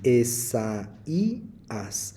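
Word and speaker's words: Ἠσαΐας: en hebreo y está el nombre e Isa y se pronuncia así Esa ias pero quiero hacer una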